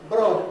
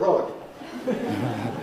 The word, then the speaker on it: broad: vowel of thoughts broad the spelling looks just like the spelling of rome so you might think that broad and road rise but they don't broad broad it is a broad road well perhaps we can work out what you mean but it's wrong that word is not road or the other way around road is not raw they don't rhyme with one another they have different sounds